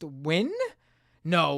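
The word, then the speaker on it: Nguyen: in said it's pronounced wi no way it's pronounced wi I never knew knew that that's pronounced win I really never knew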